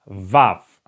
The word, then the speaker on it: vav: the next letter is VAV okay like in vapor Vapor you know when you say vapor it's like VAV Vapor it's the same beginning of this word okay buff in written